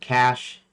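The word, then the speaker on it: cache: Uh I pronounce it cash instead or I I don't pronounce it cash. I pronounce it catch.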